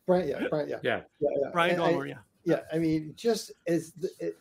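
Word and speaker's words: Brian Doyle-Murray: Brian Doyle Murray.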